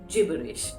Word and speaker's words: gibberish: that I started talking gibberish। ध्यान से इसे प्रोनाउंस करिएगा क्योंकि gibberish है, ये gibberish नहीं। बहुत से लोग इसका प्रोनाउंसिएशन गलत कर देते हैं। So gibberish is correct।